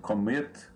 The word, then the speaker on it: commit: Por exemplo, commit, o stress está no final, né?